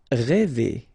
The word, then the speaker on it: rêver: Rêver, okay, accent circonflexe, so this accent on the top of okay, will produce the sound really open one, okay, so rêver.